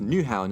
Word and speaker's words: Nyhavn: know how I called Neha Vani Haven earlier well I lied because it's actually pronounced new houn and I firmly believe